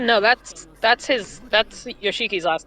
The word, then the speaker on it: Yoshiki: like this one's Yoshiki, it was spelled like Yoshi cheeky, but it was still pronounced Yoshiki.